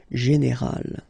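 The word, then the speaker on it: générale: But then phonetically it's quite interesting because you don't make any difference. You will get so général at the masculine form, and it will be exactly the same thing at the feminine form, général.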